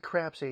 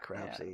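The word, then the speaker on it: Crapsey: name was Adeline crap I'd like crap say yes you heard it here first spell it off we see our apse why crap say yes she was becoming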